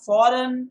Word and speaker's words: foreign: Then you have foreign, F-O-R-E-I-G-N. Mind you, G is silent there.